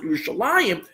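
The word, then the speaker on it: ירושלים: As a matter of fact, if you look at the word, it's not spelled with that yud. It's spelled Yerushalayim. There's one of them. So that's the way it's written, but we pronounce it Yerushalayim.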